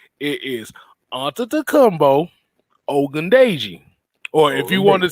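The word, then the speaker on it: Ogundeji: wartime tv if if you want me to pronounce the name it is onto the combo ogundaiji or if you want to sell or if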